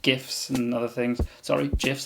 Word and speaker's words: GIF: argument with that yeah gifs it's getting gifs the creator says gif that's what it is short for the word graphic which is a hard g g yes a draftic